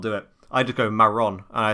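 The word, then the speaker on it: marrón: in the chat but you need to like roll your your rs like i don't know how to do it that's the problem i cannot do it for the life of me let me go google translate so it's like it's meant to be like maron it's like i can't do that it right rolls the tongue i i've tried doing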